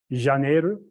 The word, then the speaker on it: Janeiro: How do you say January in Portuguese? Say it again. Janeiro. Yeah, I said it almost, so I'm gonna quit right there.